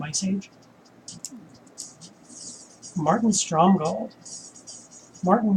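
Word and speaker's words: Márton: Age Martin Strom gold Martin with the accent on the a Creek goes back with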